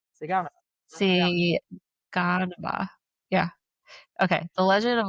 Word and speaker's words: Siguanaba: the pronunciation for me. Siguanaba. Siguanaba.